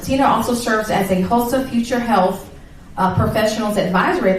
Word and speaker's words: HOSA: HOSA. I just didn't want to mispronounce it. Tina also serves as a HOSA Future Health Professionals Advisory at the Surrey Early College High School.